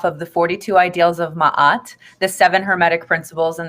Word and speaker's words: Ma'at: the 42 Pittsburgh so ma'at it's m a a T some pronounce it as mayet she's an Egyptian Netter